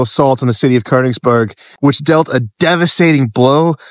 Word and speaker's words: Königsberg: In German, really, it's pronounced Königsberg.